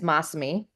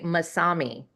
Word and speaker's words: Mossami: Um, but people say they tend to look at it and say Masami. They put the pronunci, you know, the the emphasis on the wrong part.